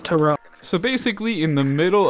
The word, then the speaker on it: Tyrod: give me an idea for my black king tyrod taylor wanting him to thrive it's pronounced toro so basically in the middle of in the